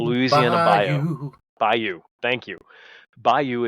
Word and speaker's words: bayou: into Tio's Tiana's B bio ad bio bio wow the Louisiana bio Bou thank you Bayou Adventure saying bio and I'm like there's an o in there how do I pronounce this word by you that's that's normally